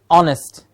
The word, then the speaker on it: honest: Honest, the H in the beginning is silent.